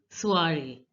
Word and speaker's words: soirée: So the last E is not pronounced and OI is pronounced as ua. Ua. So it becomes soiree.